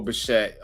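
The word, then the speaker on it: Bichette: Pronounced E. It's a silent e. It's okay. Bo Bashette.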